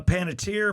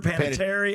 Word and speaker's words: Panettiere: Hayden, uh I've heard uh Panettiere, Paneterry. I always said Panetair.